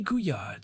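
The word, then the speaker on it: Couillard: Kuyard, spelled C O U I L L A A R D but pronounced Kuya, published a landmark paper at the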